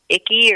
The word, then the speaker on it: Icke: Well, like that, I might be mispronouncing his name, David Icke or David Icke or Ike, David Icke.